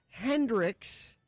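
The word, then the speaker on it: Heynderickx: memories don't miss Haley Hendricks it's spelled really weird though h-e-y-n-d-e-r-i-c-k-x and wouldn't wouldn't that be Hendrix I think so I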